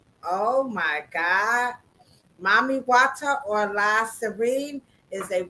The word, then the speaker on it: Mami Wata: Everybody in the chat, look up Mami Wata. MAMI space Hold on. Wait a minute. Wait a WATA. minute. Spell it again.